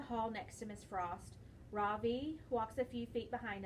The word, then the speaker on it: Ravi: stands up really straight my name is not raw v he said it's pronounced ravi i'm not going to